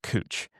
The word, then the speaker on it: Couch: Like Couch Street is pronounced Cooch.